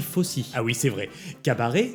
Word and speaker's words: Fosse: Ça s'écrit Fosse mais on dit Fosse.